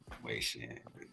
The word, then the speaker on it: Wei Shen: Wei Shen.